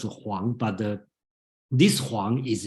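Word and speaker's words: 黄: Okay, so I don't want to try to be too picky, but basically all pronounced as Huang, but the this Huang is yellow, and the Qinshi Huangdi, that Huang means king.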